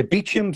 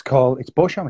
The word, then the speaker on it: Beauchamp: Well, some people say Beecham, some people say Beauchamp, but the strange thing is that it's Beauchamp. It's French.